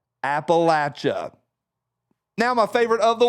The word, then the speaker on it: Appalachia: we have your attention it's pronounced Appalachia say it with me Appalachia one more time Appalachia now my favorite of